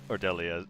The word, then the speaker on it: Delhi: Or Delhi, I guess the H is silent.